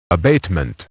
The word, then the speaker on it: abatement: รวด เร็ว ถ้า เป็น abatement สะกด ว่า A b a t e m e n t ถ้า เป็น สำเนียง อเมริกัน จะ ออก เสียง ว่า abatement แต่ ถ้า เป็น สำเนียง